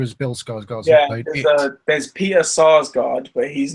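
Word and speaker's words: Sarsgaard: of them though no because he's um SARS not Scar's God okay that's an easy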